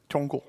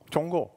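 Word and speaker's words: 中国: Can a Chinese person help me with the pronouncing? Zhonggu. Zhonggu.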